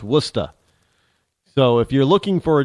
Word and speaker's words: Worcester: w RS how they pronounce is W it's Worchester but it's pronounced wer not even Worcester it's pronounced wora so if you're looking for w s ah